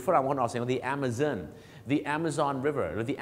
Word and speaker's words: Amazon: ต่อ ไป ครับ amon บ้าน เรา ออก เสียง Amazon ออก ไป เลย เหมือน Amazing ใช่ มั้ย ฮะ แต่ สำเนียง ฝรั่ง The Amazon นั่น เอง ครับ หรือ ฝรั่ง คน ออก เสียง The Amazon The Amazon River หรือ The Amazon River The